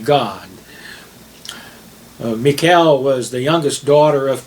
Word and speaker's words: Michal: tonight has a name her name is mikael uh it's almost spelled like michael but it's it and they mean the same thing but it's mikael m-i-c-h-a-l there's no e so her name means